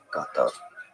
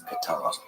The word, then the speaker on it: Qatar: Well, officially in Arabic, it is to be said Qatar, Qatar. Easy, right? In English, it is generally accepted that it is said as Qatar, Qatar, but Qatar is how Okay, so it is Qatar.